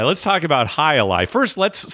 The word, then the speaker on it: jai alai: right let's talk about high Ali first let's spell it because it it doesn't spell like it sounds it's actually two words hi J Ai and a li a l AI High Ali yeah right so the